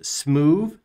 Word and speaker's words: Smoove: commands today that is smooth and add details i did not mispronounce that smoo s-m-o-o-v-e it's a combination of smooth and move you'll see how it